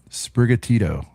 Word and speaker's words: Sprigatito: All right, I'm This gonna try is to the- pronounce these, Brent, because I promise you I don't know Oh, them. do it. Sprigatito, That's right on.